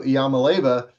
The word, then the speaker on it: Iamaleava: And so what Nico, let's see if I can pronounce it, Nico Iamaleava did.